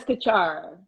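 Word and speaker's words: Desikachar: Deskachar.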